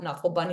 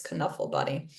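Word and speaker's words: Knuffle Bunny: Williams is Dutch and in Dutch the K is hard and actually in Dutch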